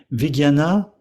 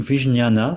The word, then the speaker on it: Vigyana: c'est vigiana berava Tantra vigiana c'estou vigniana ça c'est ça se prononce ça s'écrit de plusieurs façons c'est un terme très